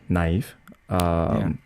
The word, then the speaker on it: NIve: why why why neve never well let me think well neve you are supposed to pronounce it as uh naive originally in urban dictionary